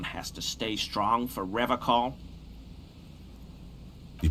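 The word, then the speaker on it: Revachol: to stay strong for Revol he pronounces Revol with a hard K unlike other people I like to pronounce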